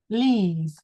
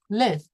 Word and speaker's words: leave: Can you say this one with me? Leave. Leave. That's right. Because if you say it like the the the week it live, it becomes live.